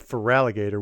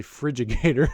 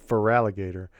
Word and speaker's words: Feraligatr: We would say, instead of Feraligatr, we'd say Frigigator. And there was no reason for that. There's definitely F-E-R, but we'd say Frigigator instead of Feraligatr.